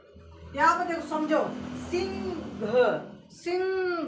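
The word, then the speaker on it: Singh: AH, हा, sorry, हा की स्पेलिंग HA होता है। यहाँ पर देखो समझो, सिंह, सिंह, घ, यहाँ पर ग जो बोला जा रहा है वो साइलेंट रहता है।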